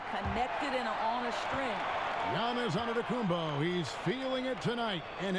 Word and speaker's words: Antetokounmpo: into the spelling of Giannis Antetokounmpo's last name. He helped set the record straight of how you pronounce it. The Nigerian way, you gotta say with a D, so it's Antetokounmpo.